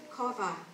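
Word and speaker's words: קָוָה: It's pronounced kova, and that means to bind together, perhaps by twisting.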